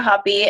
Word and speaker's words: Hoppe: with can you just tell us the proper pronunciation of your name and what it is you teach so my name is Jessica hoppy and I teach math at Spokane Falls Community